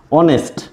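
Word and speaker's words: honest: plus vowel বিশিষ্ট ওয়ার্ডে এইচের উচ্চারণ যদি সাইলেন্ট থাকে নীরব থাকে অথবা আমরা উজ্জ্বল বলতে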